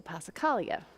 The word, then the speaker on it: passacaglia: you today is a pacala which is fun to say pacala but harder to spell and so in my head it's passacaglia so I remember how